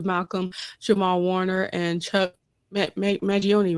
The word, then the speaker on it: Mangione: Kim made sure to say rest in peace and power to Malcolm Jamal Warner and Chuck Mangione, right?